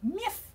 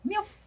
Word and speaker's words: miff: Cindy, the slight correction is miff, not milf. It's a fifth sort of sound at the end, not a oof.